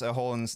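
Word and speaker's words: Haaland: So, thank you so much to M say it's because that is the Norwegian pronunciation.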